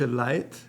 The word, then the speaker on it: Leid: In the middle, Deutsche Leid, that can be pronounced quite German, Deutsche Leid, meaning German folks, German people. Leid, L-E-I-T, a dialect version of Leute, people.